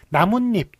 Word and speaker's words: 나뭇잎: 사이쇼 붙을 수가 있습니다 나뭇잎 이런 식으로 나무와 잎이 결합했는데 발음을 어떻게 납니까 나뭇잎 남은 잎 이런식으로 남은 니은 붙죠 그 다음에 립 이렇게 니은이 붙죠 그래서 이건 니은 니은이 덧붙는 것이네요 나뭇잎은 예 그럴 때 나뭇잎은